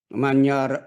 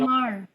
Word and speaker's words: Myanmar: Manyara. Ah I can pronounce it well. So nakita po natin Myanmar.